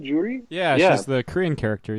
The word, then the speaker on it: Juri: Is that how you say her name, Juri?